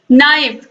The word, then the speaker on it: knife: अगला क्वेश्चन है, right the 4 silent words of के। ऐसे वर्ड्स आप लिखिए जिसमें के क्या हो? साइलेंट हो। जैसे कि नाइफ, KNIFE, नाइफ मीन्स चाकू होता है।